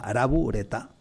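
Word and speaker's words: ラブレター: la palabra inglesa y lo pronuncian a la japonesa ara bureta todavía hoy no se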